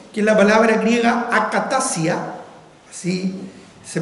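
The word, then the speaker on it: ἀκαταστασία: La palabra confusión, que es la palabra griega akatasia, así se pronuncia, Básicamente, literalmente, en realidad significa inestabilidad.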